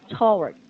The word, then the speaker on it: towards: when I pronounce this word, do I Mhm. make W sound? Yes, but it's okay. Towards because it's more natural to have the W sound on this word.